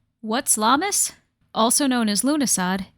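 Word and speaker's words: Lughnasadh: Now, I tend to call it Llamus because Luna, I know how to pronounce it now, but if you've seen it written out, the pronunciation is not logical when you compare it to how it's spelled.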